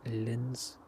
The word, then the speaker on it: Linz: That one departing out to Linz. That's how you pronounce it.